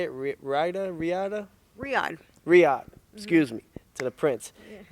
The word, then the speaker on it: Riyadh: Riyadh. Excuse me. To the Prince. Riyadh.